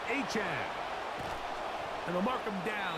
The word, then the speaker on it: Etienne: Like, so Travis Etienne, his last name is, it's pronounced Achan, but there's actually someone in the league with their last name Achan, I think, is how that works.